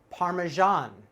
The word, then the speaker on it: parmesan: parmesan parmesan parmesan cheese but actually not correct the way we pronounce this is parmesan parmesan parmesan parmesan cheese parmesan cheese this is